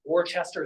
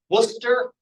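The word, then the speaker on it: Worcester: um at time uh especially a British English pronunciation like the Tims river is not the fames or like this place that looks like it's orchester it's called Worster for example very good say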